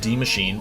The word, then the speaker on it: Die Maschine: Though set in the 80s, the origins of Die Maschine, pronounced Die Maschine, for all you non-German speakers out there, reach even further back in history.